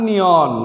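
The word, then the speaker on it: 내년: হিউতের এখানে নিয়ে আপনাকে উচ্চারণ করতে হবে সঠিক উচ্চারণ হবে উরে এই বছর জাং নিয়ন গত বছর আমরা জানি গিয়ক বাচ্চিমের পরে নিয়ন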